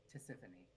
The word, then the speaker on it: Tisiphone: Tisiphone.